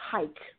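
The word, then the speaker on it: חי: is actually relative to a Hebrew word pronounced hike which is spell CHC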